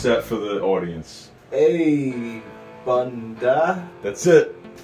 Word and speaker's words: A'bunadh: We got the Aberlour Abunada? Abunada? Let's let the jester do this one. Yo, pronounce that for the audience. Abunda.